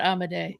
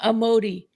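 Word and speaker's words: Amodei: Because it's not Amade. It's miseri. It's miseri. It's miseri because it's amade, not amodi.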